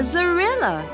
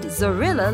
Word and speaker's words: zorilla: It looks a lot like a skunk, and its name rhymes with gorilla. Think carefully and shout out the answer. That's right! It's called a zorilla. Now let's see what the word zorilla looks like.